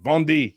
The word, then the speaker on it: Vendée: Vendée. Yeah, see, I had to remember how to pronounce it.